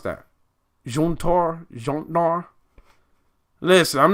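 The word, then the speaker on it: Jötnar: The J is pronounced as Y. Jotnar. Jotnar. Youtnar.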